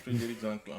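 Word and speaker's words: Frédéric Zanklan: Eramet Grande Côte direct monsieur Frédéric Zanclan c'est bien ça j'ai bien prononcé. C'est bien ça Frédéric Zanclan.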